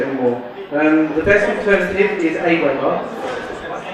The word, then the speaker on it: AWeber: The best alternative is Aweber. Aweber. Yeah, so that's spelled A-W-E-B-E-R.